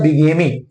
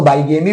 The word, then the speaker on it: bigamy: फिलहाल इस प्रथा को कहते कहते क्या है, इसको कहते हैं बिगेमी, ठीक है। कुछ लोग इसको बाइगेमी भी पढ़ते हैं।